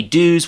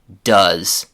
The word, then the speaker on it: does: The vowel sound in do is oo. But in the form that we use with he, she, and it, that ooh vowel sound changes to an uh like in the word sun, butter, or money. So we don't say dos, we say does.